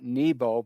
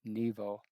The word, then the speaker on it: Nebo: aka Mount Nebo, or with the English and the Christians, it's Mount Nebo, but with an uh, the Jewish they pronounce it in Hebrew with a V, Nebo.